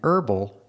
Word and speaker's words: herbal: to meet you and the word herb herb and herbal both have a silent h so it's an herb